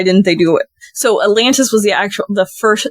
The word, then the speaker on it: Atlantus: is in Cape May is called the Atlantis um but weirdly and interestingly it's a u and not an I so uh a t l a n t is how the ship's name is spelled I I might be